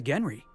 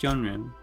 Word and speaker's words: genre: It's a rule of the Genry. Masked Marketeer had a massive bruiser named Tiny, and we got ourselves a real unfortunate hullhead named Lucky. Coincidence? I think not. Genre, Felix. Pronounce genre. Genre, right. Thanks.